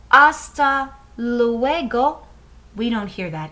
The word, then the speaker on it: hasta luego: the letter h well in spanish this h the h is silent so we don't hear it so when we say hasta luego we don't hear that